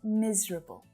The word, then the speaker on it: miserable: So it looks like there should be 4 syllables. Miserable. But we just shorten it to miserable.